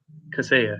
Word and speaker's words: Kaseya: Here in the how do you pronounce this? Is it the Kaseya Center? Kaseya, yeah.